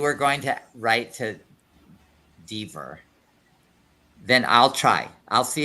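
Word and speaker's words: Dever: E a pronúncia é Deaver. William Deaver. Deaver, é a pronúncia certa.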